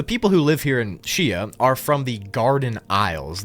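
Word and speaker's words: Xia: Chia is next, and it's spelled X-I-A, but I think it's pronounced Chia, so just bear with me.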